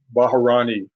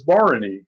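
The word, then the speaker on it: Bharani: terrible way I mean I used to call Barney baharani you know because that's what it looks like when you spell it but it's Barony you know so you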